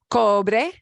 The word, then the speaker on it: cobre: And I want you to hear there is no such thing as a silent E at the end of word. English, we got a lot of silent E. Skate, late, great. No, not that great, but great that you walk on yeah. A slate. Yeah. Silent E in English. No such thing in Spanish. If you see the letter E, you pronounce it cobre.